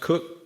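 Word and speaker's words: Koch: And then we have Christina Cook, pronounced Cook, spelled um, who's a mission specialist.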